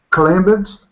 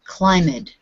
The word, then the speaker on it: climbed: was easy okay now you changed climb into a two syllable word and said climbed but the the only time we change the word to two syllables is if it ends with t or d this ends with a sound of say it's in your throat right this is voiced so how will we say